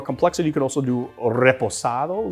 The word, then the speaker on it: reposado: you could also do reposado. Look at how I rolled the R, buddy. Can you even roll your R's? I don't think you can. Try it. Reposado.